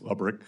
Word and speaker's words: Lick: Is am I pronouncing his name correctly? I believe it's Lick. Lick.